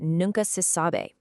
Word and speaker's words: nunca se sabe: This one gives us a totally different bouncing phonetic rhythm. Notice the two peaks. We've got noon at the beginning and sa near the end. Also, definitely pay attention to how sabe ends in the phonetic spelling. It's b, not bay or bay. It's a very soft e sound.